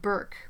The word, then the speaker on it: Bourque: It was pronounced Burke, but spelled Bourque.